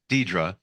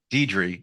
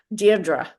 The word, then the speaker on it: Deirdre: and by the way I called you Dedra I'm sorry dedri is the correct pronunciation correct well there's two so you can take your pick de is English deardra is Irish um the name is